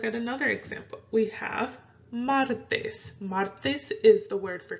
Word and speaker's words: martes: We have martes. Martes is the word for Tuesday in Spanish. Okay, so we have martes. Martes. See how I'm stressing it more on the mar.